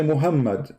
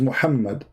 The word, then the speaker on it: Muhammad: Like now, you say Muhammad, but there's no Muhammad. It is Muhammad.